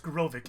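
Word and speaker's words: Graavik: And it's pronounced Grovik.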